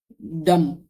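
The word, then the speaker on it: dumb: और हो सकता है डम डम डम में बी साइलेंट है। एम के बाद जब भी बी आएगा साइलेंट होगा।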